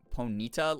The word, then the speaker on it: Ponyta: The way you emphasize the syllables in Ponyta made me think Ponita, like Bonita.